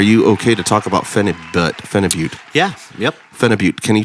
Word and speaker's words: phenibut: So Brian, are you okay to talk about phenibut? Yeah, yep. Phenibut. Can you tell me what you have a more clear vision or a more rounded out explanation of what phenibut is?